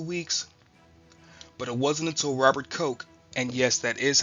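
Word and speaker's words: Robert Koch: But it wasn't until Robert Ko, and yes, that is how you pronounce his name, characterized the enemical nature of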